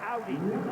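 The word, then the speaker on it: Aury: of bounds AI Cruz it's spelled Aur y but forget about it it's Audi like the car and I just learned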